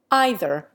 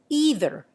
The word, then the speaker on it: either: authorities of his time the original pronunciation of the first syllable in england probably made it rhyme with bay but the ee sound was firmly established by the end of the 18th century toward the middle of